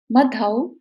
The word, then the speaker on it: मधौ: तीसरी लाइन, यत् कोकिलः किल मधौ, औ की इसमें साउंड आएगी, मधौ मधुरम विरौति।